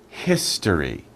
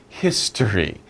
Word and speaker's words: history: History. Not his story, no, history. History.